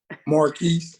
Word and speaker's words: Marque: sure I'm pronouncing right Mark Henderson it is pronounced Mark right Marquis oh it is Marquis okay all right because it's spelled a little